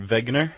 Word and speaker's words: Wegener: a guy named Alfred Wegener. Okay. He's German, clearly. Okay. Because his last name begins with a W, but I pronounced it with a V.